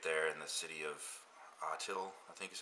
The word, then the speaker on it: Atil: So for many years they traded with the caliphate there in the city of Atil, I think is how you say it. It's Atil.